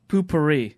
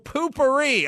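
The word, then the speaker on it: Poo-Pourri: do I pronounce this poop re poopourri poop Oh poo pourri oh sorry and now I got it yeah poo pourri we're talking about that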